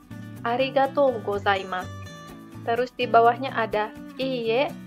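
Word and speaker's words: ありがとうございます: Di sini ada arigatou gozaimasu. Arigatou gozaimasu. Artinya terima kasih. Di sini O-nya adalah bunyi panjang. Kemudian U yang terakhir ini diucapkan kecil seperti nggak terucapkan. Arigatou gozaimasu.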